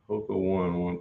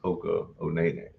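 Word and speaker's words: Hoka One One: Hoka one pronounced Hoka Onene.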